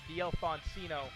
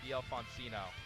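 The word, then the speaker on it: d'Alfonsino: Pronunciation is DL Foncino for all you people at home. I know some of y'all say it a different way. That's not how you say it. DL Foncino.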